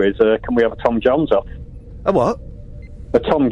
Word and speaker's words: Jones: say Jones properly did Tom Jones you're not saying Jo you're saying Tom Jon Tom say again Tom Jones Tom Jones Tom Jones Joon you're saying Jon you make you've made Jones into two syllables Tom Tom Jo oh